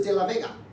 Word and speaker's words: De La Vega: Puerto Rican artist, and because it rhymes with bodega.